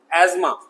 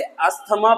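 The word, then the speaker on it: asthma: एजमा, लोग इसे अस्थमा पढ़ते हैं, हिंदी में वाले इसे दमा कहते हैं।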